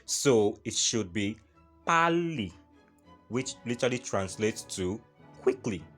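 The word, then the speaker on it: 빨리: For example, pali, pali, not pari, like Funke Akindele would say. So it should be pali, which literally translates to quickly.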